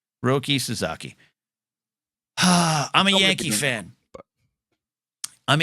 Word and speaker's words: Roki Sasaki: I looked up how to pronounce it. Roki Sasaki. Roki Sasaki.